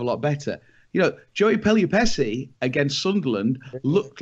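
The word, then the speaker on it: Pelupessy: Lionel Messi rhymes with Pelupessi.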